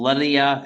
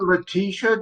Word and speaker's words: Letitia: Isn't it Letitia James? Letitia, is that how you say it? Letitia. I thought there was an S in it.